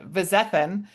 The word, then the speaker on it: Vizethann: Chef Vizthan and it is brunch season.